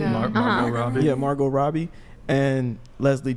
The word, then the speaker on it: Margot Robbie: I tweeted, this conversation came up on Twitter, and I posted a picture of Margaret Robbie. Is that how you say it? Margot Robbie.